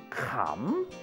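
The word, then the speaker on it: ขำ: You always pronounce this letter as if it's rising, kaw. So now, let's put kaw together with Kham.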